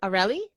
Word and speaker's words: Areli: hey hi hey okay am I saying it right aureli yes that's correct thank God okay because